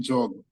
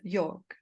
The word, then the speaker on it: yoga: La prononciation réelle du yoga est jog. Les Indiens font le jog. The true pronunciation of yoga is jog.